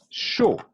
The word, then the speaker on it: chaud: Chaud.